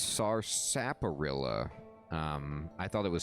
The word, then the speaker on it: Sarsaparilla: and lady henrietta okay so it is sarsaparilla it's just again you just don't pronounce the r it's a silent r what you doing here